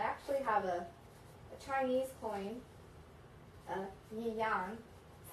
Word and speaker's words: yuan: I actually have a Chinese coin, yuan, is how you pronounce it.